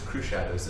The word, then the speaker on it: Cruxshadows: And so but it's Cruxshadows is how it's pronounced.